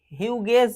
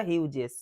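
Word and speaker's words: Hughes: সাথে রয়েছে টেড হিউজেস হিউগেস বলবো না হিউজেস এখানে জিটা জয়ের উচ্চারণ করছে টেড হিউজেস দেখ আচ্ছা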